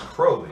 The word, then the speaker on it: Crowley: Yeah, I had a professor, Charles Rowley, and just lacked the C there, and he pronounced Rowley. So I almost said I was saying Crowley instead of Crowley.